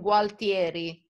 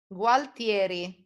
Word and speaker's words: Gualtieri: Is the tower of this palace in Gualtieri.